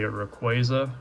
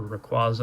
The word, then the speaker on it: Rayquaza: Next one up here is a Rayquaza, or Rayquaza. I've heard it pronounced both ways, so pardon me if I'm pronouncing it the way that you don't like.